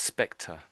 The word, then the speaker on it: spectre: So it's spectre.